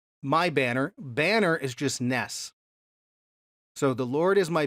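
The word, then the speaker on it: נס: word for banner and the Hebrew word nes, N-E-S, we would pronounce it.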